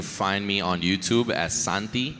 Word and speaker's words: Santea: You can find me on YouTube as Santi. It's spelled like S-A-N and then T. So Santea. Or on TikTok as the same thing, but with 2 underscores.